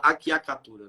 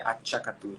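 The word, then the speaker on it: acciaccatura: Quando você falou a tchacatura, eu não tinha associado, mas aqui o povo fala aquiacatura, né? Então tá errado. Na pronúncia do italiano seria a tchacatura, né?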